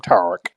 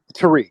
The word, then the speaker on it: Tariq: a real white man he pronounced my name tarak so what's going on how do you pronounce it tariq it's terrific but the